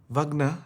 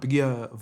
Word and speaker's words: Wegener: Wegener, the W is pronounced as V. Wegener is the GSG 9 boss.